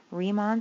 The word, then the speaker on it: Riemann: Okay, so now I'm going to estimate this going, my area is approximately equal to my Riemann sum, that's how you pronounce his name, Riemann sum, using left endpoints